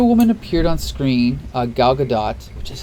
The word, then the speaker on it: Gal Gadot: when the Wonder Woman appeared on screen uh Gal Gadot which is how you pronounce it Gal Gadot I remember the thing yeah four different Spider-Mans